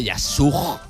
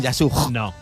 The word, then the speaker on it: Yasuj: en la ciudad de yasuj Ni más ni menos han llovido pronunciado así además una J Gracias J aspirada que la la próxima